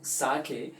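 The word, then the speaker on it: sake: सो सा is pronounced like फा, ठीक है, इन fathers and सो ऑन। So actually में आप ये चीज़ समझेंगे कि इसको हम साके कहते हैं, सो नॉट एक्चुअली सेक, ठीक है, तो इसका ध्यान रखो।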